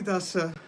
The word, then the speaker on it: Dasa: Sri Dasa Mula gives the following description of this perfected stage. Dasa doesn't have a line over the last A, does it? No, so it's Das.